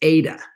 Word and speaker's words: eta: the h thing is not h it's eta and it's a capital um uh eta there's two kind of e letters in greek one is epsilon and the other one is eta eta is a long e and so anyway this